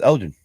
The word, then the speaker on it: Elgin: I would not know how to pronounce it except for I have people from that's pronounced it for me. Okay. That I talked to. All right, so it's Elgin.